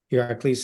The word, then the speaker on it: Iraklis: Iraklis is the Greek pronunciation of the ancient Greek is.